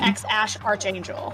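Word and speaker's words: X Æ A-12: Yeah, it's A12 but it's pronounced X ash archangel.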